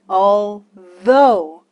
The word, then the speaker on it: although: Al though Al th네 gh 끝에 오면 F 발음이 나는 경우가 있고 alth 럼 아예 발음이 안 되는 경우가 있죠네 그거는 외우셔야 돼요 alth 소리가 안 나지만 enough F 발음이 나잖아요 그렇죠이 경우는 소리가 없다 gh 씨가 꼭 외워 주세요 자 alth 의미를 알아볼